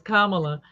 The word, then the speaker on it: Kamala: say her name right it's like mamala it's Kamala like Mala it's a it's a